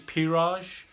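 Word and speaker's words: Pirage: lot of people do my name is piraj it's spelt p i r a g e it's like mirage but it's just with a p that's my name i'm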